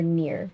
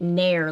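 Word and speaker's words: Neiers: bling ring interesting we're near is it near or near how you say her name i said it nair like the like the old school hair removal stuff that they used on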